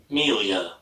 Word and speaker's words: milieu: really, in the rock milieu ("mil-yoo"... is that how you pronounce it?) "Meel-yer"... meel-yer!